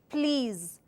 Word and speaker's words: please: pronunciation so once again the right technique for this pronunciation is please and then listen once again listen please please has a z sound listen has a s sound okay so let's move